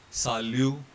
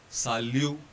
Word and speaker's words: salut: Consonants at the end of the word have a very special feature. They are not pronounced, they are ignored. For example here, ver, salut, and blanc.